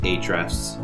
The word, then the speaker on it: Ahrefs: Ahrefs or Ahrefs? It's just Ahrefs.